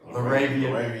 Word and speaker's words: LaRavia: Jake LaRavia? LaRavia.